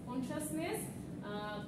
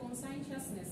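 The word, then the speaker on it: conscientiousness: বলেছে যে এক্সট্রোভার্সন এগ্রেবলনেস কনশাসনেস sorry এটা কিন্তু আগে পড়িয়েছিলাম এটা না এটা হচ্ছে কনসাইনশিয়াসনেস এটা আমরা মিডের আগে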